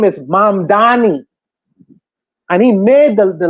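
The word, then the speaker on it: Mamdani: See, he made he made him pronounce his name correctly. Correctly. His name is M Danny.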